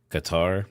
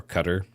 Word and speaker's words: Qatar: Israel, US, UAE, Saudi Arabia, Qatar or Qatar depending on how you say it, Kuwait, Jordan, Iraq, Bahrain,